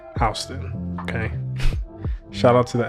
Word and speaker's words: Houston: And obviously there's a Houston, Texas, and I know it's spelled the same way, but this is pronounced Houston.